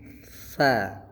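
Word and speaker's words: ث: Nah, ini penyebutannya di ujung lidah ya. Jadi, lidahnya seolah-olah seperti dijepit atau digigit gitu ya. Jadi bacanya sa tsa ujung lidahnya tuh seperti digigit gitu ya, tapi enggak digigit betulan.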